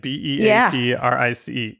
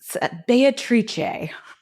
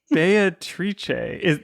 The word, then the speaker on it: Beatrice: like beatrice right like b-e-a-t-r-i-c-e you pronounce it yeah can you say that again for me beatrice beatrice in the old and current italian okay yeah you wouldn't